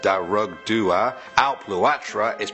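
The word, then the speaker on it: Dearg Due: Next we have Sully1017 who says Derg Du is pronounced Darug Dua, Alp Luatra is pronounced Alp Ukra, and Slough is pronounced Slua.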